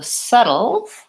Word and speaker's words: settled: and subtle and so settled versus subtle the only difference here again is the vowel here I have the Red Tent vowel and here I have the such fun vowel and so I might